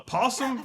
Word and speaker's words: opossum: First, we got this thing called a possum, although it's spelled opossum, but the O is silent because English.